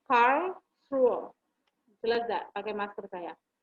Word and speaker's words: Karlsruhe: Gitu bacanya, Karlsruhe.